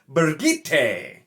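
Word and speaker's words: Birgitte: way it's b-i-r-g-i-t-t-e so it's definitely not b-r-i it's b-i-r and i know that and so i always kind of read it as bridget because it was an easier name and it just made more sense so budget fine i can do that and i looked this up this is in the glossary it confirms that apparently michael kramer is quote unquote correct it is supposed to be bergite hell no bergite i'm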